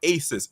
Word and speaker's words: Asis: called Shades of Black by Aces. It is spelled ASIS.